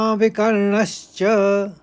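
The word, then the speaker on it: विकर्णश्च: तीसरे चरण को देखिए यहां पर अ के ऊपर आघात है और व के ऊपर आघात है और फिर दूसरे शब्द में ण के ऊपर आघात है तो इसे इस तरह से पढ़ेंगे तीसरे चरण को अश्वत्थामा विकर्ण च अब देखिए चौथा चरण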